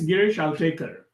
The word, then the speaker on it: Girish Altekar: Girish Altekar? Yeah, it's Girish Altekar.